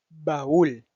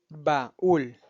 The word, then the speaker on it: baúl: Baúl. Baúl. No se utiliza un diptongo nuevamente, sino que se utiliza un hiato. Y por ende la palabra se pronuncia baúl y no baúl, junto.